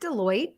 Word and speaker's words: Deloitte: Is it Deloitte?